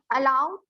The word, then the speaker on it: allowed: The last part will be oo. Allowed. Allowed. And then the D.